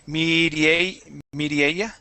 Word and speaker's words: Mireia: And I pronounce your name wrong every time. Mireia. Almost. Almost. It's Mireia.